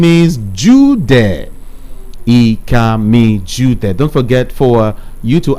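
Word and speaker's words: Ikami Judeh: For me, I am Ikami Jude. It's spelled IKAMIJUDEH.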